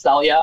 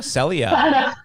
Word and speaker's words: Celia: will say one thing my name is technically pronounced Celia I don't like oh sellia want to sell you